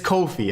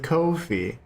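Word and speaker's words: Ko-fi: the kofe my friend it's cofi okay I know it looks like coffee and later says buy me a coffee it is Kofi per the actual official Twitter page of Kofi they said noi rhymes with Kofi it wouldn't be Nafi rhymes with coffee right right so it's Kofi anyways Louis thank you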